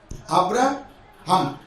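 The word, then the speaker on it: Abraham: अभी HAM है English में, एक्चुअली इसका प्रोनाउंसिएशन के मुताबिक ABRAHM, अब्राहम।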